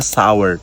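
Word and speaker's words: sour: আর এটা টকট ইংরেজি আমরা সোর বলি উচ্চারণ করতে পারি এটা সাওয়ার সাওয়ার সাওয়ালাম সা আবার আপনি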